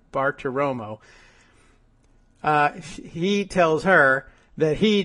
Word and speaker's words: Bartiromo: I think I've always thought out loud when I see the name that it's like Bartiromo, but it's not. I'm now looking at it, Bartiromo.